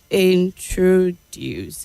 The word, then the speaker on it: introduce: not Health introduce okay introduce and not the way you said it blatant and not blatant